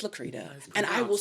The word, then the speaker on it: Lacretta: That is the way that it's spelled. So I understand that you would call me Lacretta, but it's Lacretta.